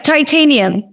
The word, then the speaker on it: Titaniam: Yes, Titaniam. Very much like the metal.